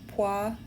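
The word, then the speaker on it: poisson: and the pan distribution pan is a French word that means fish it's pronounced Pon I don't know why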